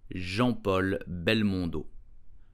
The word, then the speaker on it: Jean-Paul Belmondo: a legend for us so how do we pronounce his name correctly in French you will say Jean-Paul Belmondo Jean-Paul belmodo Jean Paul belmundo did you know